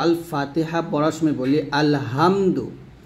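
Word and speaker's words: الحمد: দেখুন, এই হাটা আমরা যখন উচ্চারণ করব অবশ্যই গলার মাঝখান থেকে উচ্চারণ করব, হা এরকম, তাহলে উচ্চারণটা হবে আলহামদু, আলহামদু, আলহামদু, এরকম। আলহামদু বলা যাবে না, আলহামদু বলতে হবে।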